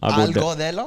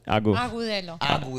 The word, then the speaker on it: Agudelo: Right off the bat, it's Agudelo. Algodelo? No, Agudelo. Agudelo, right? Agudelo.